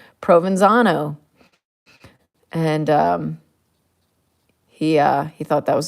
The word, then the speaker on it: Provenzano: Provenzano. That's how I pronounce it.